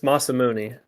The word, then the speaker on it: Masamune: But I'll see if I can pronounce it. Ser Masa. It's Masamuni. Oh, Masamune.